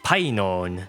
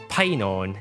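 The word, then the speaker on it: Phainon: sun destined to rise, Painon. It's derived from the verb paino, which means to shine. Painon is essentially the agent form of this verb, and it means the one who shines, or the shiner.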